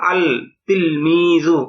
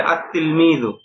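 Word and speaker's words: التلميذ: তো এটা ওই উপরের নিয়ম অনুযায়ী হওয়া উচিত ছিল আল তিলমিজু এরকম না। বরং এটা সঠিক উচ্চারণ হবে। উচ্চারণে এরকম হবে। আত্ত তিলমিজু। কিন্তু লেখায় আসবে এরকম। আল তিলমি আত্তিলমি। মানে এখানে লামটা। উচ্চারণ হবে না।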